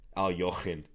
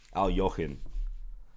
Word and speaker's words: Alekhine: Zion Kanan says, Alekhine is pronounced alternately like a normal person's name and like coughing up a hairball. That's right. It's one you got to practice for sure. Al Jochen. Something like that.